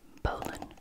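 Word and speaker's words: bowline: like bow line for good reason but it's pronounced poland is one of the most used knots it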